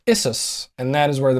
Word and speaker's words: Issus: Now we're at the Battle of Issus. Are you pronouncing it Issus so we don't get flagged off of Spotify? Yeah. No, it's spelled ISSUS.